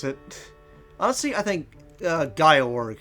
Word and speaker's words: Gyorg: Though I know some people are just saying stuff like Georg or George, as to pronounce it. Honestly, I think Gyorg sounds the best, personally, because it just sounds cool.